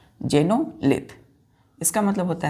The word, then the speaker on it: xenolith: एक्स है तो एक्स को हम क्या पढ़ेंगे, प्रोनाउंस करेंगे जे, तो एक्स जेनोलिथ, XENOLITH।